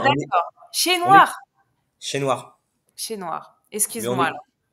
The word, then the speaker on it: Chesnouard: Chez Noir. On dit chez Noir. Le S, on le dit pas. Mais après, Ah, d'accord. Chez on est Noir. chez Noir.